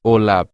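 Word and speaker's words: OLAP: this activity is called oap standing for online analytic processing and pronounced olab generally involves highly complex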